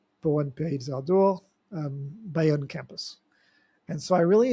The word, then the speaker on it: Bayonne: So just like Bayonne, New Jersey, it's spelled the same, but this is Bayonne.